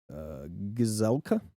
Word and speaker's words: Gazelka: Senate Majority Leader Paul Gazelka, that's how you say his name, for his part said that he's a Republican.